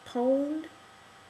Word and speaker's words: pwned: apparently kind of um how do you pronounce it like a owned pwned he gets pwned you